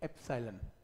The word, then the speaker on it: epsilon: तो ये जो कॉन्स्टेंट है इसका नाम है, जैसे अल्फा, बीटा, गामा, इसका नाम है EPSILON, pronunciation एप्सिलॉन, plus two में यूज करते हैं इसे, एप्सिलॉन नॉट, जीरो को नॉट बोलते हैं, एप्सिलॉन नॉट।